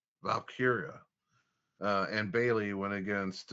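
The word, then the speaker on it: Valkyria: Um Val man, how do you pronounce her name? Valkyia. Valkyia.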